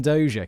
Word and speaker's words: Dozier: Here's someone called Brian Dozier in my pronunciation dictionary. Brian Dozier. Can you guys hear that? That's where I look things up. And so that's what the pronunciation we're going to go with today.